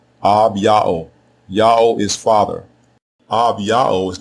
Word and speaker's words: Abijah: The way you pronounce his name is Abao. Abao.